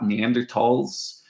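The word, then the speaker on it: Neanderthal: here at the top neander tals the th is often pronounced without a th it's pronounced with a hard T neander TS often it's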